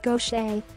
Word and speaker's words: Gauthier: Music is a second career for Gauthier, pronounced Gauthier, who is 60.